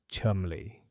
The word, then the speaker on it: Chundley: Chundley's grosser and provisions, pronounced despite appearances, Chumley, a post office that